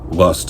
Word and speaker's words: Lvst: My project is called Lvst, but Lust is spelled with a V, kind of a nod to True Cult with a black metal thing.